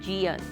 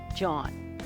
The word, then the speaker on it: Gian: During the whole interview, I kept calling him Gian, but his name is actually pronounced John.